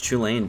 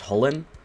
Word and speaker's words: Chulane: Alright, first up is Cody piloting Chandler's Chulane deck. And yes, I am aware that it is most likely pronounced Chulane, not Chulane, but I prefer to say Chulane.